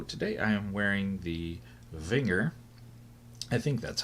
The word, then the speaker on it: Wenger: So today I am wearing the Wenger. I think that's how you pronounce it. And it's Wenger.